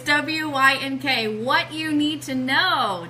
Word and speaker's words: WYNK: And you have to wink when you say it like that. It's it's WYNK, What You Need to Know, 2017.